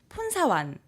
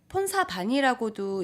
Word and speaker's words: 폰사완: 우선 폰사완 폰사반이라고도 이제 영어로 표기하다 보니까 발음이 좀 달라지는데요. 네. 보통 이제 현지에선 폰사완이라고 해요.